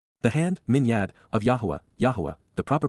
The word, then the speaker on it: Yahowah: Yahwa the proper pronunciation of the name ofaha god as directed